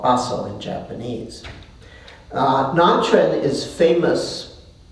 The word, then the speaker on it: Baso: And Nanchen was a disciple of one of the sort of founders of Zen, Maatsu, called Baso in Japanese.